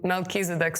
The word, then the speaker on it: Melchizedek: That's very interesting fact because in English we pronounce it like Melkisedc.